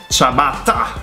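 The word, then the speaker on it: ciabatta: Like double T is double T. T. So you should pronounce T. Chabata. It's so much fun in our house. It really is. Spaghetti. T. It's quite easy. I don't understand where the T spaghetti. Where does the D come from?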